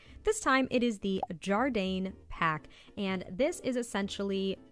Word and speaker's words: Jardane: requires a little explanation firstly is pronounced jardine you know like the container for jam and that guy that you used to go to school with it's also our very